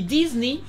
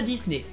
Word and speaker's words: Disney: On dit Disney et pas Disney.